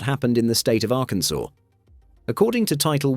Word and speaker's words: Arkansas: the Arkansas code, there's only one correct way to pronounce the state's name, Arkansas, with the final S silent. Say Arkansaws or Arkansawz, and technically, you're breaking the law.